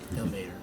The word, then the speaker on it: Ilmater: Chuck is a half-orc paladin of Ilmater, or Hilmatar, or however you pronounce it. Exactly. Ilmater.